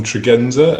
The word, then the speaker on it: Tregenza: Folks, my name's Tregenza, and you can hear from that name, which I pronounce with a soft G when I'm booking Italian restaurants, that I'm actually a native of Cornwall.